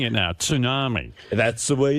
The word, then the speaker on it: tsunami: And I'm actually saying it now, tsunami. That's the way it's pronounced.